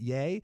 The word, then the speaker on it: Ye: He has a new album out called Ye, or as he calls it, Yay. It's spelled ye.